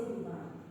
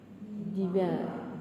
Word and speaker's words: divine: The word, how do you say divine? Divine. Diva. You change this vowel.